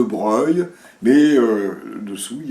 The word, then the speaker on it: Broglie: sait bien par exemple que deux brogly à 15 ans on prononce de gros lit puis après on comprend que ça se dit de Breuil mais dessous il y